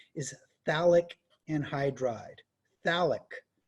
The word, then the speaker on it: phthalic: liqu and hydride phthalic you say it like there's no pH in there so if you're if you're confused about that the stupid pH is just ignore that when you say the word phthalic anhydride and that's got